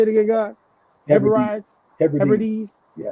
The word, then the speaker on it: Hebrides: Hebrides? Hebrides? Yeah. The Hebrides.